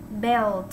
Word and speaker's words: belt: Belt, ok. Nhớ đọc là belt, đừng có bell không. Bell là thành ra cái chuông jingle bell, biết không?